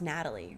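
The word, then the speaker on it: Nathalie: She's played by, her name's pronounced Natalie, right? I think so. Natalie. Because there's an H in it, but I think it is Right, I think it's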